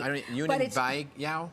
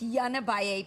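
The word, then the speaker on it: Yunnan Baiyao: Yunin Bai Yao? It's Yanabaye powder.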